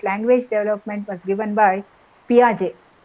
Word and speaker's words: Piaget: development was given by piaget p i a g a t p r j t is silent uh you will find